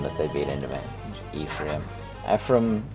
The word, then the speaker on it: Ephraim: I don't know, I always pronounce it the Hebraic way. I think that's a Jesus school problem that they beat into me. Ephraim. Ephraim sounds cooler, but Ephraim, I think, is the correct pronunciation.